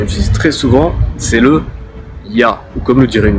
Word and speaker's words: Я: voir avec le R, je le prononce encore une fois, c'est Ya, ou comme le dirait une native. Я.